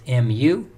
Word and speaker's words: mu: We pronounce the population parameter mu as mu, meaning the mean of the population.